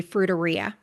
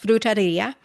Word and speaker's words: frutaria: these things called fruterias, which in English would be fruiteria, which sounds grosser when you say it in English. But in Portuguese, it's pronounced frutaria.